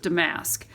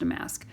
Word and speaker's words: damask: and there's tons of damask or demesk i've heard it pronounced both ways but i believe it's pronounced a mask bees bees are a